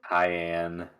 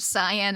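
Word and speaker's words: cayenne: sorry it's okay sorry I know I'm not a stickler about the pronunciation of most things but I will not accept cyan as the pepper I am pepper thank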